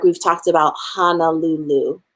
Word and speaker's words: Honolulu: like we've talked about honolulu right like the o's are at our ah would be spelled h-a-n-a-l-u-l-u as opposed to what it's really called which is honolulu right o is how